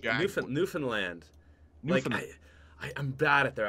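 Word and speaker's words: Newfoundland: ever heard of a place called newfinland New Found land in Canada New Foundland I've heard of yeah it's called newfinland but it looks like New Foundland anyways they talk like we say how it's spelled over here yeah yeah it's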